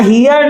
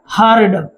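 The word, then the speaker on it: heard: पहले कि आई हर्ड, यहाँ हियर नहीं बोलेंगे, करेक्ट प्रोनाउंसिएशन इसका होता है हर्ड।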